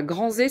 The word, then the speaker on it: Granzay: Voilà, Granzé, ça s'écrit Granzay, espace Gript, Gript.